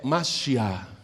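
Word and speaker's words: משיח: escreve do mesmo jeito mas em hebraico é masiá e quer dizer ungido portanto a palavra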